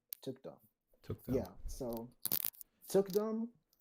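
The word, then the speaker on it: thukdam: called Tukdam. Took. Say again, sorry. Yeah, it's spelled T as in Tom, H as in home, U as in under, K as in karma, Mm-hmm.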